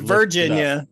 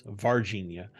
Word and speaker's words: Varginha: So this episode today, we're going to be talking about the Varginha, Brazil case. I said it right. Not Virginia. That's in America. Virginia. No, it's Varginha.